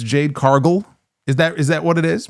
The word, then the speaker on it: Cargill: It is not Jade Cargill, okay, like gargle. It's Jade Cargill.